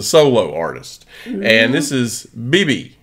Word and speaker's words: BIBI: this is a solo artist and this is BB right we just listened to it just a